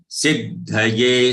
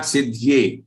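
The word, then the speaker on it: सिद्धये: Kaschid yatati siddhaye. Siddhaye. Please note that siddhaye's dha is full. It is not siddhye.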